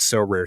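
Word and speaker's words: Sorare: win a variety of rewards which can include so rare scarcity cards game tickets merchandise signed jerseys and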